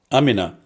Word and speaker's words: Amina: or amina how do you say it amina amina yes i thought it was amina for somebody